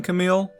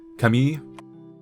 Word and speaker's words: Camille: and apparently um camille they don't say his name with the american english way of saying camille they're going by the the french where it's more like kami so it's apparently a